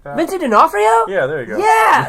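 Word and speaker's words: D'Onofrio: Kingpin is being played by Vincent I can't pronounce that last name Dion Frio or something like that vincey denafo yeah there you go yeah sick I didn't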